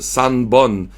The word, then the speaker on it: Sanbon: Mais en tout cas, fait que tu sais, c'est Ippon, Nihon, Sanbon. C'est Ich, ni San avec Hon à côté, mais à cause de la liaison, il rajoute Ippon, Nihon, Sanbon.